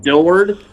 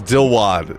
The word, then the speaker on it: Dilwad: It's still isn't it Dilward? Isn't it Dilward or something? It's Dilwad. It's Dilwad.